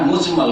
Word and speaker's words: মুজমাল: মুফাসাল আর ঈমানে মুজমাল ভুল করে অনেক উচ্চারণ করে মুজাম্মল না একই রকম করে উচ্চারণ করে কিন্তু আসলে মুজাম্মল না হ্যাঁ মুজমাল কারণ এটা হচ্ছে বাবে ইফ থেকে আজমাল ইজমাল থেকে ইজমাল থেকে মুজমাল ইসমফুল আর এটা হচ্ছে